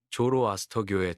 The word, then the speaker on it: 조로아스터: 자라투스트라는 고대 페르시아 지금의 이란의 종교인 조로아스터교의 창시자입니다. 우리에게는 영어식 발음인 조로아스터로 더 잘 알려져 있죠.